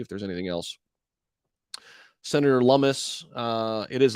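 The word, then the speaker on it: Lummis: there's anything else senator lummus uh it is lumis rhymes with hummus i always said loomis herself asserted that the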